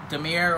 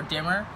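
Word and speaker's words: Dimir: your dice will represent so Damir or dimmer depending on how you pronounce it it's black blue so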